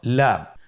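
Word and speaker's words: لام: লাম হরফটি উচ্চারণের ক্ষেত্রে অবশ্যই বারিক হবে এবং 3 আলিফ টেনে পড়তে হবে। আপনারা আমার সাথে বলুন লাম। লাম হরফটির মাখরাজ হলো জিহ্বার আগার কিনারা উপরের দাঁতের মাড়ির সঙ্গে লাগিয়ে উচ্চারিত হয়।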